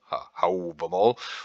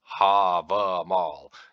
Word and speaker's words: Hávamál: Because are you going to pronounce it like somebody in Iceland today, where they say Hávamál, that A is pronounced like an ow, Hávamál? Or are you going to pronounce it like a Scandinavian person that's going to say Havamal?